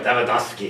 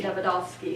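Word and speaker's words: Davydovsky: You have to say it right, Davidovsky. Davidovsky. You have to say it in the Russian accent.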